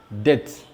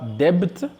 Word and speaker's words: debt: la lettre M et la lettre B est aussi silencieuse ou bien ne se prononce pas lorsqu'elle précède la lettre T. Alors, voici quelques exemples. Nous avons le mot dette.